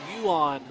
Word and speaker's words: Johann: of you because you're you are saying it exactly phonetically correct but it's yuan lessons that's in in the office with me he's south africa you want spelled johann if the way you read it's absolutely right but it is uh